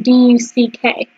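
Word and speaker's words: DUKW: And even the name of the 1942 amphibious military vehicle, D-U-K-W, which was pronounced duck.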